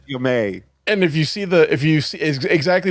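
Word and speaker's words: Ja'mie: Spelled Jamie, pronounced Jamie.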